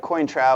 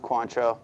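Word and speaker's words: Cointreau: Looks like Cointra, but it's pronounced Quantro.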